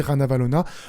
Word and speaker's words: Ranavalona: la reine Ranavalona III, ça s'écrit comme vous l'entendez, Ranavalona, mais cette rébellion anti-française est violemment réprimée dans le sang et Ranavalona III va être exilé en 1897.